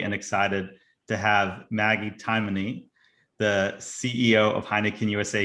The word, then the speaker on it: Timoney: i'm so happy and excited to have maggie taimany the ceo of heineken usa here with us